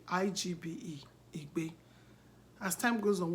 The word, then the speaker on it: Igbe: I-G-B-E.